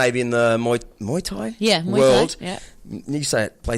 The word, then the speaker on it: Muay Thai: Muay Thai. It's not. It's pronounced How do completely you different.